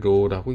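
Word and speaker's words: ρ: 그리고 요거는 읽기를 로우라고 읽습니다.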